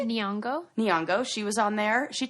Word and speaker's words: Nyong'o: Nyong'o. How do you say it? Nyong'o.